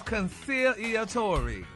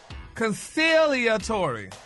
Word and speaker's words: conciliatory: but the word for the week today is concealor concealor eor I think you pronouncing it kind of wrong and it's a